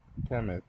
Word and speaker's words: Kemet: Kemet is the ancient Egyptian name for Egypt, pronounced Kemet.